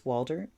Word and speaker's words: Waldherr: Kris Waldherr, I'm assuming it's pronounced Walter, Waldherr.